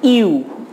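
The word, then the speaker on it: ewe: আচ্ছা দেখো ইউ, এটার উচ্চারণ কিন্তু কি হচ্ছে, এই ইংরেজি ইউ লেটারের মতো হচ্ছে, এই জন্য এখানে আমরা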